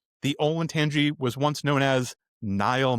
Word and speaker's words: Olentangy: mangle it 3 times, is it Olatangi? Do you know what I'm talking about? Olatangi? Olentangy. Olentangy. Olentangy. That is not how it's spelled.